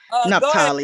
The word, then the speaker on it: Naftali: Be nice to good sister Naftali. Am I pronouncing that correctly? Be careful, Chef. You might get some friends. It's Naftali. Yes, it's Naftali.